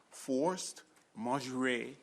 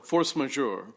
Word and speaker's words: force majeure: Now, maybe I pronounced it wrong, and I've been having... Close enough. Close enough? Close Could enough. you pronounce it for me? Or Force majeure. Majeure, okay. Well, I was thinking of the French way, even though they said it wasn't French.